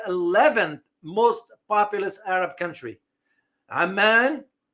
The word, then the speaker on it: Amman: Amman, don't confuse this with Oman. The pronunciation is very different.